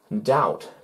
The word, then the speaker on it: doubt: thousand borrow ten thousand let me borrow more doubt before the t i don't think that's real